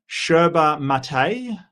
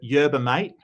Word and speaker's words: yerba mate: So, he's um he's got a new channel under um Sherba Mate. I've been told it's pronounced. Uh the Australian the Australian in me called it Yerba Mate.